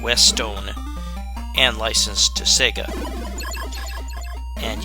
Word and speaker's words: Westone: this but this was created by a company called west stone it's not west one although it looks like it hits that by the way it's spelled it's called west own and licensed to sega